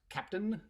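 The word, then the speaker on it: Keptn: just kind of see my t-shirt this is pronounced captain which is a an open source project that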